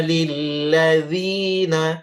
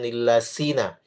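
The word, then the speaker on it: لِلَّذِينَ: Wa yaquuluna lilladzina dzi bukan lillasina lilladzina kafaru ru dua harakat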